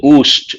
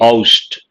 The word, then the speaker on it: oust: Usually, people mispronounce this word. They say oost, but actually oust.